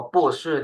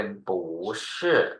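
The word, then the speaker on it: 不是: เสียง ที่ 4 ปั๊บ ปู้ ที่ อยู่ ข้าง หน้า ต้อง เปลี่ยน เป็น เสียง 2 ทัน ที ก็ จะ อ่าน ว่า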